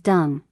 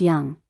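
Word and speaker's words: Dũng: know you aukan said his name is dong but it's pronounced young he's Vietnamese Jayla smiled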